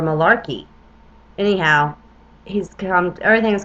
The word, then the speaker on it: Malachi: all the future popes one might pronounce his name Malaki or Malarkey anyhow he's come everything